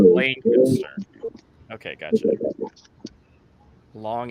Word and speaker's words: Lancaster: you're gonna pronounce it Lancaster, and we always yell at people that pronounce it Lancaster. What's the proper way of saying it again? Lancaster. There's like an L-A, a long A, Lancaster.